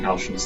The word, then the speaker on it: Halcyon: I still think it really ought to be pronounced Halcyon, because in Greek I'm pretty sure it's spelled with like the hard K letter, Kappa, I think.